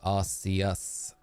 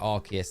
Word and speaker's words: Arceus: And someone says, well, you don't say, like, you know, in Legends Arceus, you get the phone, which is called the Arc phone, right? So you don't say the Arc. It would, if you pronounced it how I would have pronounced it, it would be the Arse phone.